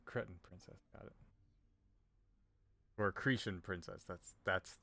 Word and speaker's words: Cretan: Or Cretan princess. That's how you pronounce that.